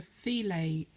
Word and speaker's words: filet: this one and we're going to use a feel a crochet technique I know it's written fill it